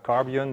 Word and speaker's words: Carbyon: name is marco arts i work for carbion that's how we pronounce it and i'm going to